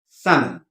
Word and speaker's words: salmon: lettuce leaves Etc um the L is silent it is pronounced Sun okay then we come